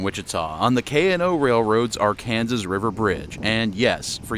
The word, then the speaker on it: Arkansas: We are south of downtown Wichita on the K&O Railroad's Arkansas River Bridge, and yes, for you out-of-staters, in Kansas, it's pronounced Arkansas.